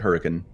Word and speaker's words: Hurricane: Yeah, there's actually a town in Utah that is spelled Hurricane, and they pronounce it Hurricane.